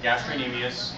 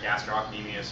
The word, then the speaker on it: gastrocnemius: here both superficially yeah gastrocnemius right you can pronounce the C it's in there gastrocnemius but correct pronunciation is without the C underneath um the underneath